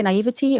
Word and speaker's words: naivety: Now, how do you say naivety or Yeah.